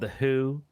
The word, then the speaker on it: The HU: i've heard recently is called the who it but it's spelled hu like the who and the [ __